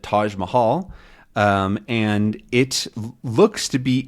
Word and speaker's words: Taj Mahal: it, the Taj Mahal, which is not an English word. So this is how we pronounce it, Taj Mahal.